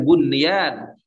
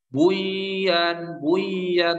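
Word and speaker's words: بنيان: Kemudian sinwan pada surat Ar-Ra'd ayat 4, kemudian bunyan surat As-Saff pada ayat yang ke-4. Ini bacanya bukan buyan, mentang-mentang nun sukun bertemu ya. Tidak, karena ini pada satu kata, maka ulama menghukuminya izhar mutlak.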